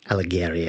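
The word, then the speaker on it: Alighieri: to try to pronounce alec alleghery i believe is how it's pronounced but it's just bodies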